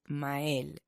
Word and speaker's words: Mael: So my name is, the correct pronunciation is Mael. Mael. Yes. And people have trouble saying that. Yeah, in English they'll say like Mael. They just absolutely want to get that Y in there, or Mael.